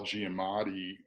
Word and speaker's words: Giamatti: behind behind this spot that voice is Paul Giamatti I don't know I said his name right